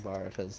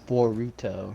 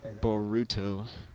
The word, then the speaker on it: Boruto: Rowan just informed me that I'm pronouncing Baruto's name wrong. It's Boruto, right, Rowan? Boruto.